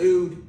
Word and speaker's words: oud: Oud.